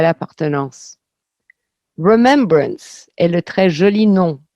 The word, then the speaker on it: remembrance: Malgré son apparence anglaise, il s'agit d'un mot français vieilli, reconnu comme tel par la voix automatisée des autobus, qui le prononcent à la française, remembrance.